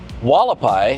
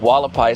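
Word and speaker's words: Hualapai: So we've just crossed past Russell and Wallapai. If you remember that street, Wallapai starts with an H, and it's one of those Indian words.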